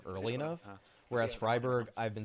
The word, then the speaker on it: Freiburg: going i feel like i learned the proper pronunciation early enough whereas freiburg i've been saying this for like five years honestly i have heard some people say freeburg at times but it just sounds too much